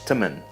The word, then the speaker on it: teman: And one more small difference we can see is that the word for friend, teman, is pronounced more like temen.